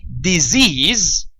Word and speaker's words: disease: Notice the discrepancy or the difference between disease. So here the S letter is pronounced as a Z sound. Disease. And this one is also pronounced as a Z sound. But here, both the C letter and the S letter are pronounced as S sounds.